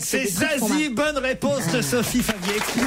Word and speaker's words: Zazie: Zazie, oui, je sais, pour moi, c'est compliqué. C'est un peu comme Slip Suisse ou Saucisson Sec. C'est Zazie, bonne réponse de Sophie Favier.